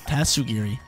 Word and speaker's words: Tatsugiri: That's how you pronounce it. Tatsugiri.